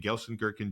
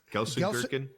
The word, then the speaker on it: Gelsenkirchen: I remember being in Gelsenkirchen, Germany. And you know what? Love, what did you just say? Exactly. Gelsenkirchen. Love is him learning that. Yeah. That's a city? He came to Gelsenkirchen.